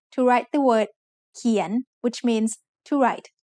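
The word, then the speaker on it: เขียน: เ ข ี ย น is said with a rising tone because it has a high-class consonant and a live syllable ending.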